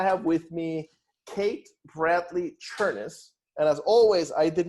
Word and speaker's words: Chemis: amazing job so it's churnis rhymes with furnace and most people don't